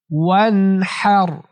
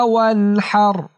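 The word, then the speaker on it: وانحر: ফাসল্লি লিরাব্বিকা ওয়ানহার। ওয়ানহার। অনেকে ওয়ানহার বলে, হার বলাটা ভুল উচ্চারণ, এখানে হা হবে না, হা। হা কণ্ঠনালীর মাঝখান থেকে।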